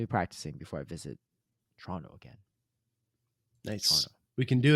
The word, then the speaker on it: Toronto: to practice your pronunciations locals say Toronto as Toronto right TR on and O uh or yeah emphasis on the Tron part so Tron Toronto Toronto looking forward to next